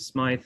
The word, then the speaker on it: Smyth: history, which was Frederick Smythe. He pronounced it Smythe or spelled it with a Y.